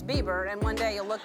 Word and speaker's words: Bieber: He's new cuz I said Biber. His name is Bieber.